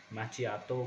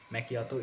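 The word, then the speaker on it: macchiato: अब मैकियातो को बहुत लोग प्रोनाउंस कैसे करते हैं, माचियातो कुछ नहीं होता, मैकियातो इस तरीके से हमें प्रोनाउंस करना है इस चीज़ को कि मैकियातो प्रोनाउंस करें, माचियातो ना करें इस चीज़ को।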